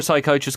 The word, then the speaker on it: psychiatrist: You don't know why you can never hear a psychiatrist going to the toilet? I do not know. Because the P is silent.